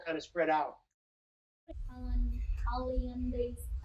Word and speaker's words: Hollandaise: how-lee-ann-days. How do you pronounce it? Billy: Hollandaise. Hollandaise.